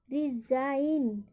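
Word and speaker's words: resign: यहाँ पर जी है तो यहाँ पर GN है तो जी का उच्चारण नहीं होगा। इसको क्या पढ़ेंगे? साइन, साइन, डिजाइन, डिजाइन, रिजाइन और नेट।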